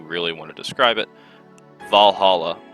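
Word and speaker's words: VA-11 HALL-A: want to describe it, Valhalla, and it's not actually spelled like that, but you get the gist.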